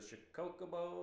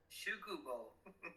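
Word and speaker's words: 宿坊: It was a Shikokubo, or how do you pronounce it again? Shukubo. Shukobo, yeah, that's right.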